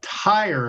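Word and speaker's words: Týr: So yeah, the next one was a band that she she mentioned called Tire. I believe that's how you pronounce it. T YR.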